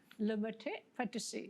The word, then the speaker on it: Le Maître Pâtisserie: It's a bit tricky, but it's pronounced Le Maître Pâtisserie. Le Maître Pâtisserie.